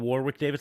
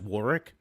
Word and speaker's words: Warwick: I keep saying Warwick Davis. I think it's pronounced Warwick.